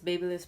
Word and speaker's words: BaByliss: is basically a tube for the babble is babyliss Pro how they pronounce that brand and yes it has titanium